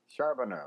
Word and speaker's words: Charbonneau: It's Charbonneau. Charbonneau. Yeah. And so if anybody can spell that, I'm the only one who comes up.